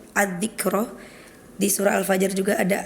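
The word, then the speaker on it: الذكرى: Kemudian di surah Abasa itu setiap pelafalan ad-dzikra, di surah Al-Fajr juga ada ad-dzikra, itu harokat tasydidnya tidak dibaca.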